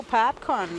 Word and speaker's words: PABCON: So I actually put my hand up and said, why don't we just go PABCON, like in English, because it sounds like popcorn, and it's pretty cool. Yeah. It sounds. It's easier phonetically to pronounce.